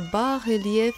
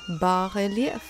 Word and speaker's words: bas: is barf you ask and why do you say it like that here's a majestic example by artist Goa Tash that turned me onto this marvelous artistic technique a barf is a word of French origin barf that comes from the